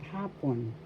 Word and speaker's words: hapon: Hapon. First syllable ha, second syllable pon. The first syllable has the accent hapon, afternoon.